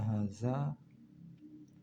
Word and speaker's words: hadza: Kaidah bahasa Arab kata hadza ha nya harus ditulis pendek tapi bacanya harus panjang. Sama seperti nama Rabb kita Allah. Lamnya ditulis pendek tapi dibaca panjang.